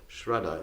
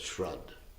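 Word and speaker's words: श्राद्ध: his relatives, there's this ceremony called Shraddha. In Hindi they call it Shrad, for short, because they don't pronounce the A.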